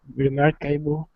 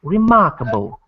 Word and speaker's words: remarkable: He had failed to win the race to the pole, but the remarkable bravery. What? Able. Ending able is never stressed. Remarkable.